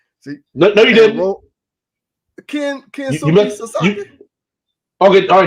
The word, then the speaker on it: Kensuke Sasaki: Kensuke Sasaki. Okay, all right. Now you got it right. What did I say first? You butchered the man's first name.